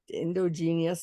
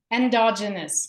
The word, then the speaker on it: endogenous: word I can't get and endogenius that's probably not right what is it endogenous there you go I knew it was I wasn't saying it right uh and it's